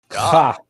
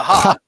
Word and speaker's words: Ja: Ja. All right, I'll go with the Spanish pronunciation. The ha.